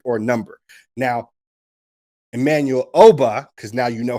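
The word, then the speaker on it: Ogbah: All right, Emmanuel Obah, which, crazy enough, I'm telling everyone now, you're pronouncing his name wrong the entire time. The G in that situation in Igbo languages is silent.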